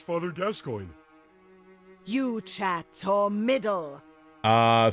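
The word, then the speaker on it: Gascoigne: does a lot of damage but actually it's pronounced father gascoin you chat to Middle uh Thor God thanks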